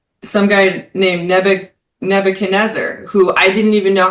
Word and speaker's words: Nebuchadnezzar: And he has a lot of religious um references in this letter like some guy named Neb Nebuchadnezzar who I didn't even know how to say